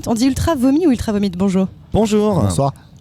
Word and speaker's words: Ultra Vomit: aujourd'hui sur le plateau ultra Vomit on dit ultra vomi où ultra vomites bonjour bonjour on prononce absolument toutes les consonnes c'est comme Manar ça